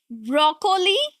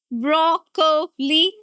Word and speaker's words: broccoli: You are tempted to say broccoli. Broccoli. No, that's wrong. Absolutely wrong. You have to say, listen carefully. Broccoli. Broccoli. Broccoli. Now it's broccoli. Broccoli. Three syllables. And the stress here is on the first one. Broccoli. Broccoli. Not curly. Do not say o again. It's aw sound.